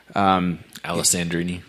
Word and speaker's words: Alessandrini: Alessandrini. Alessandrini, that's how you say it.